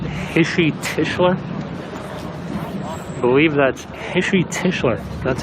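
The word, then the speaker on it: Heshy Tischler: I believe that's Hishi Tischler.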